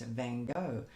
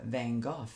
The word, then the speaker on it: Van Gogh: called Painted Sunflowers after the artist Van Gogh, or Van Gogh, depending on what part of the world you're from. I know that in Holland it's pronounced differently, and I don't speak Dutch, so I'm not even going to try.